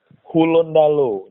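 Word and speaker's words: Hulontalo: Kalau orang bilang ya Gorontalo sih, tapi kalau orang dari Gorontalo asli itu pasti bilangnya Hulondalo. Hulondalo nyebutnya. Hulondalo. Tulisannya itu tidak pakai huruf D, tapi pakai huruf TH. Oh, Hulondalo gitu ya. Tapi bacanya Hulondalo.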